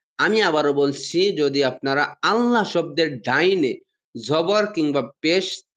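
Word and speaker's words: الله: জবর কিংবা পেশ দেখেন, যদি যদি আল্লাহ শব্দের ডাইনে বা পূর্বে আপনারা যায় বলেন যা, বা আগে যদি আপনারা জবর বা পেশ দেখেন, তাহলে এই আল্লাহ শব্দটা মানে মোটা করে, মানে মুখটা গোল মুখটা গোল করে মুখটা ভরে উচ্চারণ হবে, যেমন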